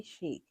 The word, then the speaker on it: Shycc: Chic is spelled SHYCC, but it's pronounced chic.